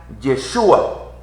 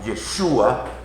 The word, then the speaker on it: Yeshua: Entonces dice que lo usual es pronunciar el nombre como Yeshua, porque es una posible, hago así entre comillas, posible transcripción fonética, aunque es incierto.